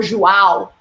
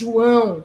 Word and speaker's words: João: say it, and because he goes for João, which has the A very open. Now, no, it's João. You go down with your A, as if you were rapping.